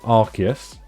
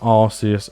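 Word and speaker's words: Arceus: try to refrain but it is definitely archus I 100% stand by that because we have got the arc phone that used in Legends archus and if we pronounce that the same way that we pronounced the other pronunciation of archus it has different connotations entirely doesn't it so it's archus Arch phone not arus and yeah moving on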